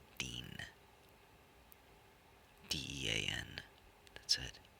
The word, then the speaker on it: Dean: It just has one syllable, Dean.